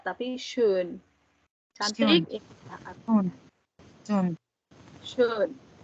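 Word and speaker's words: schön: Shun. shun. Jack. Shun. Shun. Oh, Shun. shun. Shun. Shun. Shun. Artinya cantik, June. indah, ya. Shun. SCH SYOU shun. Pokoknya nggak shun, ya, tapi nggak sun juga, tapi shun.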